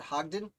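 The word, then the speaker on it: Hodgdon: so bad okay so samuel hadden i pronounce it hogden sounds right to me a lot of d's in that name samuel hogden joined the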